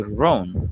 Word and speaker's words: Ron: You say ran Ron Barcelo is uh what I've been buying because why I get that is another story.